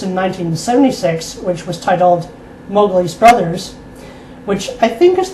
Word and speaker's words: Mowgli: Oh, speaking of Mowgli, apparently Kipling intended the name to be pronounced as Mowgli, the O-W rhyming with cow, but I have to say I prefer the adopted pronunciation, Mowgli.